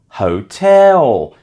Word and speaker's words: hotel: Hotel is stressed on the second syllable.